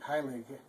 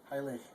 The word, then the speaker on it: Heilig: In this instance, the G on the end isn't a G, it's more of a soft. If you soften up the G like it'd be like Heilig, Heilig. It's almost a, but if